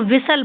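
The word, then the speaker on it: whistle: इसमें T silent होती है तो इसको विसल पढ़ते हैं।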